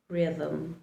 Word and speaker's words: rhythm: It also remains silent when it's put together with R in words like rhyme, rhythm.